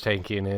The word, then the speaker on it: Tankian: And the lead singer, one of the lead singers, is Serge Tankian, obviously. But I was going to play a. Is he related to Walter Markinson? No, he's not. You know who Serge Tankian is, but I was going to play a game.